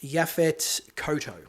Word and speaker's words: Yaphet Kotto: name, forgive me, but it's I believe it's pronounced Yaphet Kotto.